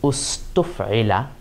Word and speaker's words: اُسْتُفعِلَ: In the couple of cases where the structure of the wazn, the verb pattern, gives us extra syllables, in the past tense, we slip an extra dhamma in there. So in form 10, for example, where we have a lot of extra letters, it becomes ustuf'ila, where we have two